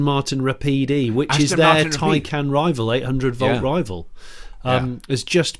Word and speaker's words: Taycan: Well, talking of Taycan, or Taycan as they call it. Sorry, I've done it wrong, Taycan. I'm sorry, Taycan.